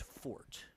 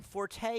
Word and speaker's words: Forte: surprisingly we both defaulted to uh it's actually pronounced fort i mean forte is i think it's one of those accepted